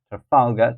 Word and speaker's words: Trafalgar: eight is Trafalgar Square Trafalgar so that will be the second syllable Trafalgar Square and then number nine